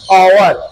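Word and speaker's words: hour: क्या आएगा एंड यहां एच ओ यू आर हावर नहीं आवर आवर का क्या हो जाएगा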